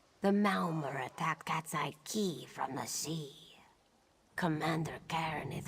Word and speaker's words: Quay: I wouldn't have pronounced that Quay as key.